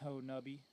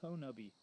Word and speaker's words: Honobia: here, through the property that we're on in Honubby. And it is pronounced Honubby. It's kind of spelled like Honubia, but the local pronunciation is Honubby.